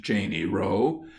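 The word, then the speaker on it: Cheyne Row: following is an extract we are called a Cheney row properly pronounced Cheney row and are a gential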